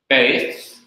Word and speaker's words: Beth: But when it has the dot in the heart or the middle of it, like here, Beth, it is to be pronounced B or B, such as in bathroom.